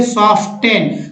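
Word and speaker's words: soften: Next देखिए सॉफ्टेन, तो सॉफ्टेन हम लोग पढ़ देते हैं ना, लेकिन पढ़ना है सॉफ्टेन, सॉफ्टेन नहीं पढ़ना।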